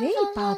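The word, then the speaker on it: 味覇: たことあるそうそうそうウェイパーって読むんだへえそうそうそう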